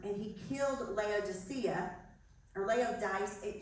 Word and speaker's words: Laodice: he killed Laodicea, or Laodice. Her name is pronounced Laodice, or something like that. I heard Laodicea from somebody, but it's read a different way.